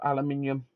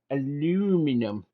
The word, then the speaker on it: aluminum: Let's do this for our American audience. Aluminum, because we can change the way a word's pronounced for no fucking reason Yeah.